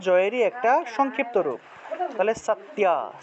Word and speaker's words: সত্য: তাহলে সত্যা, সত্যা, এইভাবে উচ্চারণটা হবে। এটাকে চাইলে এই যে জফলার পরিবর্তে ইয় উচ্চারণ করবেন, মনে করেন যে সাত, সাত, ইয়া, তাহলে সত্যা, সত্যা, এভাবে উচ্চারণটা আসবে, সত্যা।